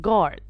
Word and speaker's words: guard: that we can get is going to be guide i'm not saying guys i'm saying guide i'm not saying to young i'm saying tongue i'm not saying guard i'm saying guard so whenever i have g and u the u gets silent most of the time so as you can